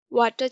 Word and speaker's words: water: वाटर chestnut, water chestnut, water chestnut, WATER, water chestnut, CHESTNUT, water chestnut, water chestnut। आर क्या है? Silent है।